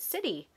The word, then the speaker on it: city: It has a soft C. What makes it a soft C? It's that I there. Remember, if a C is next to an E or an I, it makes a soft C sound.